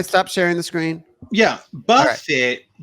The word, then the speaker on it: Buffett: Warren Buffett? No, Warren Buffett doesn't sing Margaritaville. Warren Buffett's like a billionaire. You're thinking of Jimmy Buffett. Jimmy Buffett. Yeah. I'm sorry. Girl. Buffett is a Buffett. It's pronounced buffet.